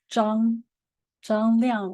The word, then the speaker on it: Zhang Liang: So my name is Zhang, or as the correct pronunciation, it's Zhang Liang would be my Chinese name.